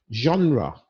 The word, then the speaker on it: genre: Eyre all these things genre very a little bit difficult to pronounce it comes from a French word but it means group